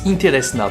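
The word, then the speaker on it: интересно: En vérité, ce nom il se prononce Interesna parce que le P se prononce R, le C se prononce S et le H se prononce N.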